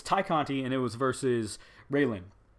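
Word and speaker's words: Tay Conti: and i knew it i knew it was tai conte not tay kanti because tainara is how you pronounce her first name tynera tynara can't even get that right but it's thai conte and it was versus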